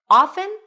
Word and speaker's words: often: Often or often? So, obviously, if it's on this list, then both pronunciations are correct. In fact, in old English, the T was always pronounced often.